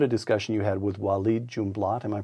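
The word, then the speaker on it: Walid Jumblatt: book you recount a discussion you had with wed junblat am I pronouncing that correctly you are Yes W junblat who's the leader of the Drew minority this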